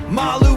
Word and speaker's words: Malu: Malu, Beyonce, pronounced like Skip to Malu, and superfan Gabe K.